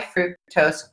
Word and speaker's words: fructose: Oh, high fructose corn syrup. Fructose rhymes with gross.